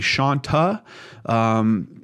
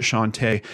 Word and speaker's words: Shawnta: originally looking at this I thought that her first name might be Shanta someone at web Slithe claims that they know someone that knows her and that she actually pronounced it Shantay and according to one of her facebook profiles it looks like that might actually be the case before I get into